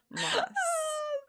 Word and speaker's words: Maas: To me, it has always been Moss. There's 2 A's. But then she came out with her like promo and was like, hi, this is Sarah J. Maas. And I had a conniption because I've been saying it wrong this entire time, as have all of us.